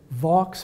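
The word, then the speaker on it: Vaux: I'll start by saying his name is actually Vox because it's a proper Englishman a French descent he mispronounced VA on purpose the way English people like to mispronounce French French words just to stick it to him so so he his name was was Vox and he um um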